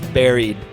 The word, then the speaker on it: buried: It's buried. Buried. Anyway, so Is that how you pronounce it? Is it buried or buried? buried. Buried? Like Barry, like Barry Allen.